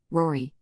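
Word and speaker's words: Roary: It's Rory spelled R-O-A-R-Y.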